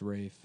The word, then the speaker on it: Ralph: It's pronounced Rafe. But it's spelled like Ralph.